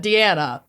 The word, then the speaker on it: Deanna: Email Dana. Deanna. Why do I keep saying her name wrong?